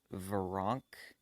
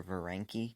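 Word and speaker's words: Veranke: the comics were wrong I think that's how you pronounce it I used to call her ver ranky cuz that's just how it's spelled ve R a n ke so I used to call her foreign key but I think it's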